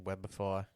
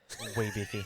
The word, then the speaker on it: Webify: And he calls it instead of being Webify, it's wee biffy.